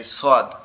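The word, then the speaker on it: ص: এর পরের অক্ষরটা হচ্ছে কি সদ। সদ অক্ষরটা সদ অক্ষরটা আমাদের জিহ্বার আগা নিচের দাঁতের গোড়ার সঙ্গে লাগবে, লেগে উচ্চারিত হবে সদ সদ।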